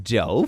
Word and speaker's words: Jew: Thoughts on Jew, pronounced Joe for a little girl, like Boo is pronounced Bo.